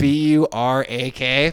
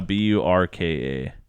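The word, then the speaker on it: burqa: Buraka. No, Burka.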